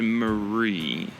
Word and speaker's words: Mary: The term that the captain came up with was a mixture of Marie's name, which is actually spelled like Mary, but Marie insists on having it pronounced Marie.